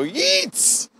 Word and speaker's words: Yeats: it was Yeats yes that's what I thought it spelled like eats like like somebody gooses you and you go Yeats know what it's actually Yeats let's take out about